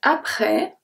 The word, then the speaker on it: après: Juste après. I don't say juste. I say juste, so the E is silent. Après, the S is silent as well.